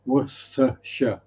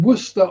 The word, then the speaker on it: Worcester: I mean Worcester I kind of get because there are letters in there that you wouldn't pronounce, but there is a Worcester in America that is pronounced Worcester.